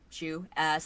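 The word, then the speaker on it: Xu: It's spelled X as in X-ray, U as in U-turn. Chinese people are very tricky like that.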